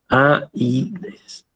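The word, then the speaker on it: Ἀΐδης: Y esto entonces se pronuncia Aides.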